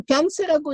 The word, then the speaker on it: 변세: 그 변세라고 있는 음식이 있는데 왕만두를 고려인식으로 병모시킨 겁니다. 그 변세라는 말은 한국말이 없어요. 러시아 말에도 없고. 변세는 뭐냐면은 편수라는 조선말을 육진반원식으로 발음하는.